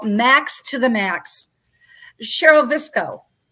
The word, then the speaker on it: Viczko: Cheryl Viczko, you'll remember that name, rhymes with Crisco.